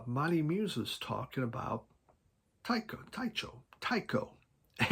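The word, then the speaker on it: Tycho: it's t y c h o it is pronounced Tao and Scott Hansen is the person that is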